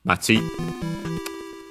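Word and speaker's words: 町: We have seen it in this very series with the names of other towns, accent on the last syllable, Machi.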